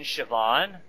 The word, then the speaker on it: Siobhan: like how you sp there's a be in there you don't pronounce the be in shobhan yeah but then again